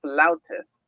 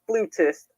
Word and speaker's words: flautist: York New York and she is a professional flautist yes that's how you pronounce the word not flutist flst yes I'm a bandgeek I should know